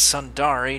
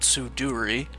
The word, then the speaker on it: Sundari: The rest of the errors were minor pronunciation errors, it's Sundari, not Suduri, that I caught after re-watching the video weeks later.